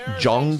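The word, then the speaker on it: Zhong: I think Z is Z H J Noise. Jong.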